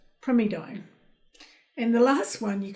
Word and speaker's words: primidone: I could say primidone, but you actually pronounce it primidone.